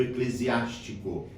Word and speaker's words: Eclesiástico: próximo do livro do Eclesiástico. É bom a gente prestar atenção na pronúncia porque nós temos um outro livro na Bíblia que se chama Eclesiastes.